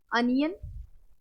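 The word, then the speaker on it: onion: हम डिवाइड कर ते ओ के साथ अगर एन आता है तो यह अन का भी आपको साउंड देखने मिलेगा और ऑन का भी ठीक है जैसे अनियन अनियन अनियन में अन आया ठीक है ऑन कॉर्न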